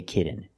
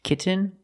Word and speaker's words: kitten: as a fast D I cannot say kitten it's kitten or more commonly kitten no I want a